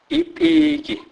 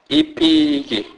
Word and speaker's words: ipiki: P is pronounced as P. P. This is pronounced as in the English word speech, e.g., ipiki, ipiki, which means a pig.